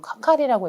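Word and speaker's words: 係: 그런데 개로 읽는다고 해서 무조건 K라고 읽지 않고 개라고 한국어로 함에도 불구하고 관계할 때 그 개임에도 카카리라고 읽을 때가 있거든요.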